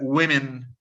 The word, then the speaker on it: women: Woman ولا women? Women. Okay, there is no O in this word. It's women, women, Yeah. women. It's we and me.